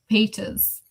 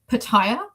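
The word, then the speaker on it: Petyr: Yeah, but the narrator pronounced Peter Baelish's name as Pattaya, and I don't care if that is like biblically accurate to what George Martin intended. I can't. I'm sorry, it's Peter. It's Peter.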